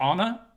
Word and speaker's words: Anna: Okay, like I said, Anna's joining us, or Anna, as you actually say is the more correct way to say it. Both okay.